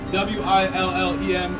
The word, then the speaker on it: Willem: I believe that's how you pronounce that. W-I-L-L-E-M. It's Willem. It's a B sound.